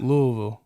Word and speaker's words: Louisville: Louisville. Louisville. You gotta say it like that, because if you say Louis like that's they're gonna be like, oh yeah, he don't know what he's talking about.